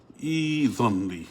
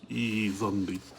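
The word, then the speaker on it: ائذن لي: kasra, because the rule is if the third letter is a fatha or a kasra, you begin with a kasra, so it becomes a e, and then this Hamza sakina becomes a ya. Idhanli.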